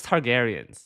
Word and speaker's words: Targaryen: children I can tell by the way you pronounce t targaryens stop stop okay it's t I know it's targarian okay it's it's just that it's hard reading